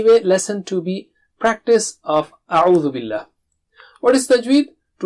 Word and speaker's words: أَعُوْذُ: have problem in saying a'udhu. So repeat after me 3 times. Take a sharp start. Don't say no. And don't stretch it.